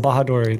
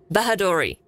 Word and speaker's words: Bahadori: did your chat miss your chat missed the pronunciation of my last name bahadori there we go you guys are caught up ha bahadori n out of 10 all right cool so